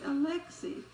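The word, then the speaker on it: Alexei: instance oh yo yoshi now that is the russian e so it would be alexi and if we angle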